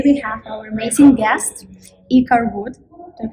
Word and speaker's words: iKAR: Today we have our amazing guest, iKAR Wood. Did I pronounce it correctly? Yeah, iKAR is great.